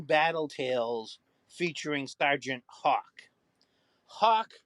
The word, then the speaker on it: Hawk: Tales featuring Sergeant Hawk Hawk rhyming with rock because that's clearly who